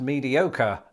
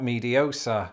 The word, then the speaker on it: mediocre: In other words, the RE suffix was retained in American English to inform the reader that it's pronounced mediocre and not mediosa.